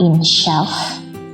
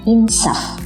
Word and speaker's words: insaf: Kata berikutnya ada kata insaf ataukah insyaf, menggunakan Y atau tidak. Mari kita lihat. Yang tepat tanpa huruf Y, jadi cara bacanya menggunakan insaf, seperti itu saja.